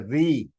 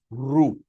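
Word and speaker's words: ऋ: A, I, U, U, Ru, 99% of the Sanskrit teachers are also pronouncing this alphabet as a Ri. They are wrong. It is not Ri. It is Ru.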